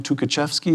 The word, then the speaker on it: Tukhachevsky: We have, who's the general, Tukhachevsky, is that how it's Yes, pronounced?